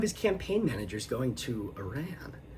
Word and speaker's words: Iran: I did learn the proper pronunciation is Iran and not Iran. The Iran pronunciation is largely what's referred to as a Bushism, so a George W.